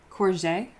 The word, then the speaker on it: courgette: You pronounce the G like a soft J. Courgette?